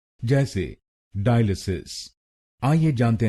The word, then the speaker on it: dialysis: और ये ध्यान में रखिए कि हमको दूसरे शब्दांश पर यानी AL पर जोर डालना है। डायलिसिस, डायलिसिस। गलत प्रोनाउंसिएशन में हम पहले शब्दांश पर यानी DI पर जोर डालते हैं, डायलिसिस।